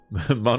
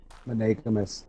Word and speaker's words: monogamous: That was a fun word to pronounce all wrong. But it sounded still right. I know. That was the best way to pronounce it wrong. Monogamous.